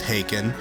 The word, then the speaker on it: Haken: I wasn't familiar with Haken. And before you give me shit, yes, that's how it's pronounced, but I saw progressive